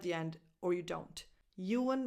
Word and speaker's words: Ewan: Ewan McGregor, Ewan, U as in you, a schwa, and then an N at the end.